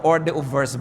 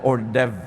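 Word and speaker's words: hors d'oeuvre: ba hindi niyo alam kung ano ba to orde verse ba ito Hindi natin alam ordev pala ito o kung ano man Ba't h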